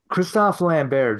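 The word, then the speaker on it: Christophe Lambert: follow the lore or they're not supposed to Kristoff lanber just would have been sitting in there waiting that is the correct way to pronounce his name and I hate it yep Christoper Lambert yeah I mean that's kind of uh there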